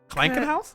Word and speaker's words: Krankenhaus: Krankenhaus? Kran. You roll your R.